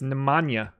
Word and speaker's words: Nemanja: know the J is like a yeah it's Nemanja manja no no yeah I might be doing